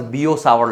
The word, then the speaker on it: Biot-Savart: called as Biot-Savart Law, or it is called as Bio-Savart Law also. So some places they will pronounce it as Bio-Savart's Law.